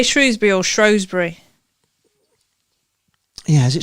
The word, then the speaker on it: Shrewsbury: Shrewsbury. Shrew, yeah. Did you say Shrew or Shrow? You wouldn't say that was Shrow, would you? Shrew.